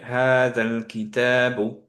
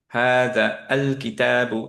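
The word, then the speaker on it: هذا الكتاب: এখন হাজা এবং দুইটাকে যখন পাশাপাশি আনলাম, দিস ইজ দ্য বুক, এইটা আমি বলতে চাচ্ছি, তাহলে আমি পড়বো হচ্ছে হাদাল কিতাবু, হাদা আল কিতাবু, এভাবে বলবো না।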